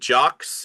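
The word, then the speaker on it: Jacques: And jocks is spelled J A C Q U E S and then a LOL E L L U L.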